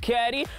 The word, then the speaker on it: CAWDY: It's mission time with your boy CAWDY, pronounced Caddy. Gone, and I'm flying all the way Eastern Cape, and it's touchdown at Jeffreys Bay Wind Farm.